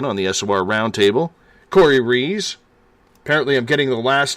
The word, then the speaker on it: Ruiz: Corey Rees. Apparently I'm getting the last name right after getting schooled a couple weeks ago at the Forest Moon Paracon, because it's spelled Ruiz, but it goes by Rees.